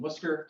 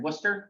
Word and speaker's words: Worcester: um but it's it's all these letters uh in Wooster are like not really that necessary it's really English um